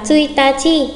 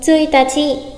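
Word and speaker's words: ついたち: Nếu ngày mùng 1 đọc là tsuitachi thì một ngày lại là ichinichi. Ichinichi, chữ Hán giống nhau nhưng cách đọc khác nhau. Ngày mùng 1, tsuitachi, nhưng một ngày lại là ichinichi.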